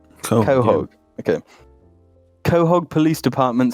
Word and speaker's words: Quahog: Quahog. Quahog.